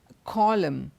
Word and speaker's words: column: the silent letter n whenever n comes after M at the end of a word it is silent like for example these words autumn it's not autumn it's autumn him column none of these words